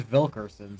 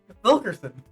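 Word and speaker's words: Wilkerson: Vilkerson. Vilkerson. Yeah, in German pronunciation, W's are pronounced like a V.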